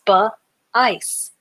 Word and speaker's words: spice: Sp- I has the I sound. C has the sound just like the letter S. And the E is silent. This is also the word ice at the end. So, sp- and then the ice. Sp- ice. Spice.